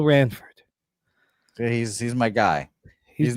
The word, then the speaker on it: Ranford: Yeah, Jimmy Fritz's going to be for our guy Bill Ransford. You keep pronounce you're doing it. You're mispronouncing his name every single day. Uh, there's no S. So, it's Bill Ranford.